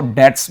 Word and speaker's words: debts: You must pay your DEBTS, इसको डेट्स बोला जाता है, बी साइलेंट होता है भाई।